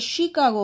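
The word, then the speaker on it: Chicago: শিকাগো শহরে 1893 সালে শিকাগো শি সি এইচ এটা কিন্তু চি হবে না এটা শিকাগো হবে স্পেলিংটা ভালো করে দেখে নেবে এবং প্রোনাউন্সিয়েশনের দিকে একটু নজর দেবে শিকাগো রবীন্দ্রনাথ ট্যাগোর স্টার্টেড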